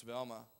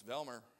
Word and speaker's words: Velma: Miss Velma works at Libby's restaurant. Now, I learned quickly, her name is not Velma, it's Velmer. You better say it right.